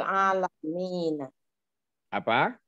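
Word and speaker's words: العالمين: Ini apa alaminu apa alamina ini? Alamini. Rabbul alamin. Rabbul alamin. Kenapa? Mudhof ilaih ya. Mudhof Karena jamak. ilaih. Oh, iya. Karena jamak. Ini yang perlu diluruskan. Bukan alamin. Bacanya Rabbul alamina. Alamina.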